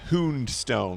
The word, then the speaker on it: Houndstone: Which I think is supposed to be pronounced Houndstone, because it's a play on Tombstone.